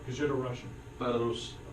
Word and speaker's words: Belarus: won by 4 against Belarus. Did I say it right? Because you're the Russian. Belarus. Say it again? Belarus. I said the Bela is too long. Belarus. And You gotta sing the R's.